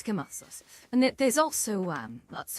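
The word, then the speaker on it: Knossos: You see what's what's there today and and you do pronounce the K on Kosos. A lot of people think it's it's Nasos.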